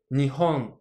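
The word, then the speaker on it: 日本: Le Japon, Nihon. Ici, uniquement le ho est en haut.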